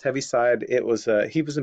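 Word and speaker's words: Heaviside: also called I think it's that have it's pronounced heavy side it was he was a mathematician electrical engineer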